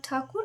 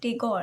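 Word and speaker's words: Thakur: She was actually very influenced by Raindraat Takur and Shubasendra Bush actually love to pronounce it Takur because it's actually Tur it's not Teor.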